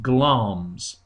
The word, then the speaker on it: Glamis: you can see here it's written Glamis but it's pronounced gloms who is led to